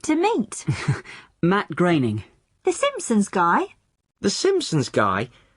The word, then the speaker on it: Groening: thought it was pronounced groaning well I did too for a long time but no it isn't it rhymes with raining Matt Groening okay that's the name